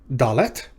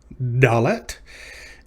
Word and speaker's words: Dalet: Dalet. It has a dagesh in it, so it's pronounced like the letter D in dog, but in modern Hebrew, it's pronounced the same way with or without a dagesh.